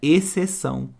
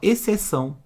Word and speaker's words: exceção: um som só olha exceção é como se não existisse esse x aqui ó eu falo exceção é como se fosse só ele não é verdade então